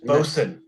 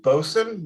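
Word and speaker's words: boatswain: never had this beer this is boasted it's pronounced boson you would know that if either your stepfather or father-in-law were a navy man which both of mine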